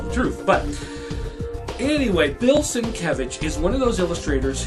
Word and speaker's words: Sienkiewicz: Okay, now here's another one that's a little hard to pronounce. Bill Sienkiewicz.